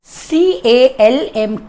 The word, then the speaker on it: calm: CALM, calm. L is silent here, so you have to pronounce it calm.